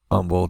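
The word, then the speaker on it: Humble: my car drive to I in Umble Texas where the H is silent and take that flight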